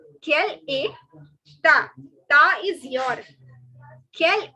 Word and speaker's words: quelle est: So what is your nationality in French is quelle est ta nationalité. All right. Quelle est, the ST is silent. Ta, which means your. Quelle est ta nationalité.